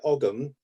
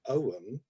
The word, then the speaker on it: Ogham: side of things, yeah, I pronounce it Ogham. Other people call it Ogham, with the silent G. Some people put a H in there and go Ogham or Ogham.